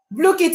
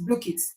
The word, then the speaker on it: Blooket: Blookit is spelled Blooket. Yes, exactly. Thank you, Edidion. That's the correct spelling. Yes, Blookit. That's it.